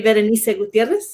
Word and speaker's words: Berenice: up your name uh berenice oh no i appreciate that uh it's actually pronounced in the spanish way very nice and i currently work